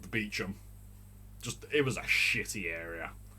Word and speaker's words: Beauchamp: Apparently, it's called Kibworth Beecham. It's spelled Kibworth Beauchamp. Beauchamp. Beauchamp. But Beauchamp. But you put it together, I get a French connotation from it, and I automatically pronounce it Beauchamp.